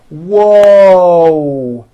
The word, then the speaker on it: whoa: when I say that whoo there's a d W sound at the beginning of that but there's also a hidden W sound at the end whoo and my mouth